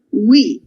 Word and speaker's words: we: La W in inglese si legge sempre U, we.